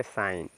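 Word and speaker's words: sign: तो यहां पे देखिए जी एन के जस्ट पहले जी है ना तो जी आपका साइलेंट हो जाएगा जी साइलेंट हो जाएगा तो इसको एस आई एन ही बस इसी का उच्चारण करेंगे तो इसको पढ़ेंगे साइन क्या पढ़ेंगे साइन साइन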